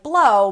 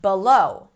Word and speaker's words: blow: And a word like blow might end up sounding like below which actually means something else.